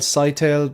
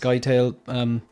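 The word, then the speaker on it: Scytale: Robert Pattinson's character is called Cytail, but sometimes it's pronounced Skytail. I think when I was reading it, I just stuck with Cytail. You know, sometimes you don't really know. You just have to go right from my own. I just need to pick a. I think I. But I've heard it pronounced Skytail or Cytail.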